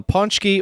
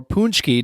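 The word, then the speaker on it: pączki: other midwesterners and they pronounce this food right as well is uh ponchi or punch key depending on who you ask yeah that is a popular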